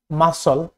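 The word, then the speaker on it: muscle: Silent C, এসসি থাকলে বেশিরভাগ C silent, SC থাকলে বেশিরভাগ সি হয় সাইলেন্ট, যেমন scene scene science মাসল মাসল।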